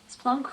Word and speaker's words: Splunk: ask me something okay Splunk rhymes with drunk that is fantastic I